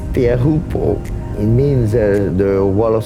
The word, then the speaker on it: Teahupo'o: Teahupo'o, that's how you pronounce Teahupo'o.